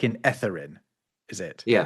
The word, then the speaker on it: Etherin: in my videos have have been mispronouncing your name because I have been using the voiced version of the the the th sound. I was saying etherin. E. Yeah. Yeah. But I've realized that you say it's etherin.